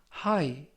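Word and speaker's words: high: 보았다 하라는 뜻이 되겠습니다 이번 표현은 하이 하이 하이 2 라고 발음 하시면 되겠구요 이때 끝부분에 있는 쥐 h 는 이번 단어에서 묵음 이라서 발음이 되지 않습니다 품사는 형용사 뜻은 정도나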